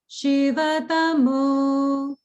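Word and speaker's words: शिवतमो: You're pronouncing the she a little bit too long. That's a hrasva. So it's more like Shivatamo.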